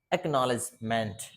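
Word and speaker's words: acknowledgement: तो देखो एक्नॉलेजमेंट, एक्नॉलेजमेंट, सी तो दिया है लेकिन के साइलेंट है, एक्नॉलेजमेंट, एक्नॉलेजमेंट। देखो दो सिलेबल है एक्नॉलेजमेंट, यहाँ से पढ़ दिया एक, एक, और यहाँ से पढ़ दिया नॉलेजमेंट, ये के को छोड़ ही दिया बेचारे को, ऐसा ही है रीडिंग।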